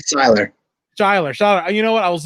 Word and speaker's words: Seyler: Is it Seyler? I want to make sure I pronounce Seyler. Seyler.